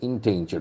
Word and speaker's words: endangered: Okay, see, endangered. Okay, endangered, endangered. Endangered. The accent falls on second syllable.